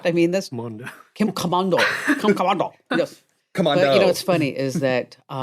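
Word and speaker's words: Komando: Well, Kim Commando is my name. And and that's the way you pronounce it. Kim I mean, Commando. right? I mean, that's Mondo. Kim Commando.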